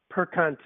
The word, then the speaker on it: Perconte: And then once again, it's Jack Perconte, you said? That's how you pronounce it? Perconte, yes.